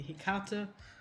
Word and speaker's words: Hecate: And we were about to meet Hecate, which is weird for me to pronounce because in German or anything similar would be Hecate, which now that I think about it sounds worse. But it's what I was used to.